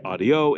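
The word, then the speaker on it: adiós: dropped quite often so the S at the end of a word will easily not be pronounced and so we often say things like uh we just had a video on this we say AIO instead of adios and so we say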